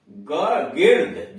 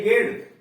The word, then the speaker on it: gird: इसमें देख रहे हैं कि इनके बाद यानी जी के बाद ई भी आ रहा है, आई भी आ रहा है, फिर भी उच्चारण इसका गो हो रहा है।